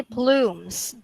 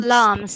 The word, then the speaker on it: plumes: everybody say blooms okay everybody say plumes okay so this is not plums okay this is not plants it is blooms next meadows meadows meadows